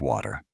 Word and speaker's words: water: In the movie, you hear a character ask for a glass of water. The T sound is very soft, almost like a D.